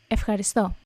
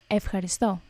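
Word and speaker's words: ευχαριστώ: Efxaṛisto. Efxaṛisto. Efxaṛisto.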